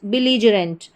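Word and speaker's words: belligerent: जरेंट तो क्या बन गई पूरी स्पेलिंग? बिलरेंट। बिलजरेंट।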